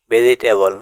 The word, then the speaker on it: vegetable: VEGETABLE ভেজিটেবল মানে শাকসবজি। এখানে জি এর পরে ই লেটারটি সাইলেন্ট থাকবে এবং শব্দের শেষে এল এর পরেও ই লেটারটি সাইলেন্ট থাকবে।